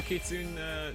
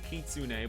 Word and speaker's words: kitsune: Oh, actually, Nitro Kitsune, Nitro Kitsune, blah, blah, blah. There are people out there who don't know how to pronounce Kitsune. They think the E is silent for some reason, like it's Kitsune.